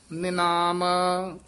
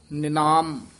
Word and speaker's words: निनाम: काम साक बसवा पूत निनाम विश्राम ध्यान ना ना है साक यमक है बसवा पूत इ विश्राम है निनाम उच्चारण करना ने नाम नहीं कहना नने से हरी लगी है निनाम बोलना कठा बिन सिमरन जैसे